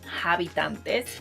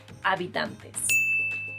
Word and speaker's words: habitantes: person's mother tongue include English speakers learning Spanish usually say habitantes or habitantes or habitants because it's very similar to inhabitants in a way. But the correct pronunciation is habitantes.